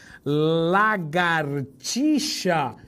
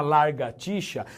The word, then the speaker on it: lagartixa: o R vem depois, lagartixa. Eu sempre brinco, se você falar largatixa, você fala pega a tixa, prende a tixa, larga a tixa, e assim por diante, tá?